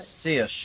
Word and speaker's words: Saoirse: Saoirse. You're dismissed. Sercha. Saoirse. I'm gonna try and remember to say it properly.